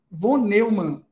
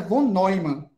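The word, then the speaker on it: von Neumann: chamado John Von Neymar se escreve vonelman né mas a pronúncia é vonoima certo e ele desenvolveu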